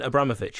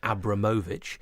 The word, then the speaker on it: Abramovich: you know that Roman Abramovich is actually pronounced Roman Abramovich on that same note